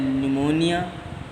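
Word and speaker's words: pneumonia: है उसका मतलब है नमोनिया याद रखना न्यूमोनिया में साइलेंट रहता है प्लेयर और निमोनिया लाइक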